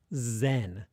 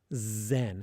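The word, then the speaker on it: 禅: in English, you say zen, zen. It's like this continual thing, right? But if you say it in Japanese, it's not zen, it's zen, zen. With your, again, you start with your tongue, zen.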